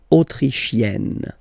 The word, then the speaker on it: autrichienne: L'Autriche, autrichien, autrichienne. So same thing here. You get E and then double N, you open the E. E, autrichienne. Okay?